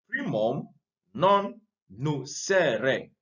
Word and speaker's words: primum non nocere: So this principle is based on a Latin maxim, primum non nocere. Primum non nocere. Now in Latin, I remember studying Latin small. In Latin, you pronounce the words as they are.